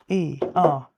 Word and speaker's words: Grubenfeuer: It's Gruben, F-E-U-E-R. It's not Führer.